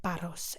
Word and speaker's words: Paros: And you do say it like Paros.